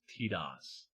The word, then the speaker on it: Tidus: Pronunciation of Tidus Final Fantasy X, James Arnold Taylor, and spoken dialogue in the English versions of Kingdom Hearts indicate that it is pronounced Tidus.